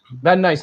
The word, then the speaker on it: Van Nuys: একটা ভাই এসে California ভ্যান news, is how do you pronounce that place? Van Nuys, হ্যাঁ, Van Nuys it's supposed to be a spectacular place যেখানে অনেক রকম রঞ্চি জিনিস হয়।